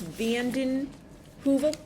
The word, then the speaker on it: Vandenheuvel: Vandenheuvel? Yes. Okay, great. I wanted to make sure I pronounced it correctly.